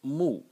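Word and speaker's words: 木: character can be written like this and it's pronounced moo and it really is a tree it's a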